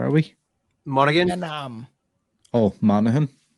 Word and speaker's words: Monaghan: Oh, Monaghan. Monaghan. Okay, so you do the Okay, that's the super soft G.